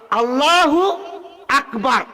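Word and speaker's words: الله أكبر: তাই আমরা আল্লাহু আকবার না কয়ে সেটা যদি আমরা বলি আল্লাহু আকবার, সহিহ হলো এইভাবে উচ্চারণ করা, আল্লাহু আকবার। আলিফটা আমরা উচ্চারণ করি না, আমরা কি কই? আল্লাহু আকবার। আলিফ কি উচ্চারণ হইল?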